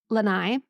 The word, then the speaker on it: Lanai: Molokai, Lanai, like, you know, the Lanais people have.